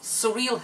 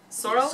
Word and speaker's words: sorrel: Well, it's not surreal because I checked the recipe and it's S-O-R-R-E-L, so it's probably sorrel. Definitely not surreal.